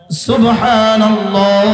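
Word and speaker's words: سبحان الله: করে এলেমের আলোকে বাকে কলকলা করে হালাল থেকে উচ্চারণ করে এবার নাহি লামটাকে পুর করে এবার হা টাকে বাতাসে ছেড়ে দেয় সুবহানাল্লাহ সুবহানাল্লাহ সুবহানাল্লাহ সুবহানাল্লাহ সুবহানাল্লাহ সুবহানাল্লাহ পড়েন পড়েন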